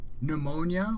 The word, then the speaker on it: pneumonia: the E is silent pneumonia we don't pronounce the P it's clear that if